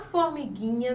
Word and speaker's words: formiguinha: O gu forma um dígrafo, porque a letra U não foi pronunciada. Formiguinha. A gente não consegue identificar U no gui.